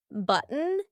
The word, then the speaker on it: button: T sometimes it's not for example the words button gotten eaten important do you notice that my throat is stopping that t sound in the middle of the word listen again button eaten gotten important here